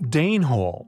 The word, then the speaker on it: Denhall: Denhall, yet pronounced Danehall after the Danes.